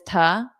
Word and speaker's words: to: So instead of to, make sure you pronounce it as ta, do to help, do to help, do to help.